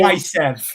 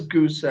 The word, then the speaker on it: Gusev: Gaisev. terminated Nikita his Gaisev. contract. yeah, Gaisev, sorry, Gaisev. Gaisev, Gusev. It's one of those two. But again, you were pronouncing it wrong. So it's Goose.